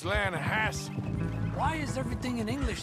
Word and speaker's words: Lanahatchee: You mean the Lanahassee River? No. The Lanahatchee. It runs right near here. Yeah, but it's pronounced Lanahassee.